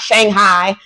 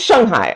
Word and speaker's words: Shanghai: It's not Shanghai. It's Shanghai.